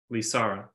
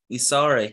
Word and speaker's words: Lysara: well my friends uh I was conversing with Liara is that her I pronounce the name yeah lisara visara lisara here and I told her of our plight